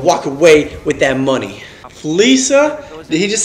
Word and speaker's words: Fleeca: Fleeca? Did he just say Fleeca? I've been saying Fleeca the whole time. It's pronounced Fleeca.